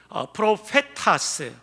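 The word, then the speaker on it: προφήτας: 투스, 프로페타스. 역시 프로페타스라는 명사 앞에 정관사 투스가 하나가 붙어 있습니다.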